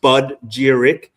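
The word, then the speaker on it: spagyric: So, we use we use spaderic alchemy. Bud giric is how you say it.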